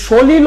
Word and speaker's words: সলিল: সলিল ও সমাধি বলো শেষের ল এর ভিতরে কি আমরা অচ্চারণ করি বাংলা পাশ করছো কেমনে কেডা এটা এস এর হৃদয় পাশ করছো কেমনে বাবা তুমি হচ্ছে উচ্চারণ দিয়া সলিলের ভিতরে ল এর ভিতরে কি আমরা অচ্চারণ করি অত উচ্চারণ করি না তাহলে হইতেছে কি